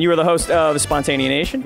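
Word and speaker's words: Spontaneanation: And you are the host of Spontanea Nation, correct? That's correct. Bless you for pronouncing it correctly.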